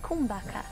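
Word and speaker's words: kumbhaka: it with the inhale so it sounds like kumbaka is breath retention it's pronounced kumbaka and it has a lot to do with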